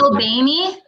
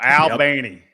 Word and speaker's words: Albany: Is it Albany? Yes, it is. That's exactly how you say it. Yeah, you keep calling it that, girl. Albany.